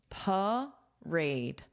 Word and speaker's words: parade: Uh uh p parade parade. But then you have to add the correct syllable stress. You can't say duthed. Parade. Da. Parade. Parade.